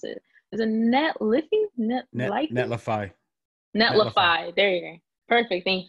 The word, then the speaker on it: Netlify: I can't even pronounce it. Is it Netlify? Netlify. Netlify.